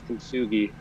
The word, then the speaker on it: Kintsugi: How do you pronounce it again? So the name of the album is Kintsugi, and Kintsugi.